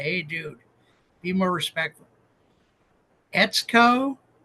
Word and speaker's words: Etsuko: times so far but she says it rhymes with let's go so if I mess it up you guys can call me and say hey dude be more respectful etco marito is it it's